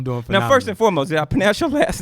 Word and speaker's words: Keculah: are you I don't know first and foremost yaponets your last name right did I did I say it right if not please get that on on on wax for me you got it kakuzu cool I like that man so so let's